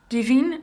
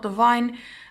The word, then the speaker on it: Divine: Yes, you will pronounce this as Divine, not Divine. I talked with the sales rep and she told me actually that it's called Divine.